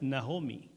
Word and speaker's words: Noemí: Noemí significa placentera o dulce y se pronuncia en realidad nahomi.